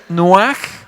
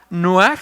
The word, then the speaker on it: noaj: favor Génesis 8:4 reposo una palabra hebrea que se pronuncia noaj noaj a ver repitan conmigo noaj para que la captemos y